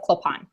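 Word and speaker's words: Clopin: telling the story um it's spelled CL OPI n so somehow I pop in but in this in the movie himself he calls himself clip-on among like diehard fans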